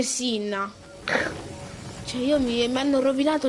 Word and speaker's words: Cinna: Ma è perché poi mi hanno rovinato che Cinna non si dice Cinna ma si dice Sinna, cioè io mi hanno rovinato l'infanzia, oh, ve giuro.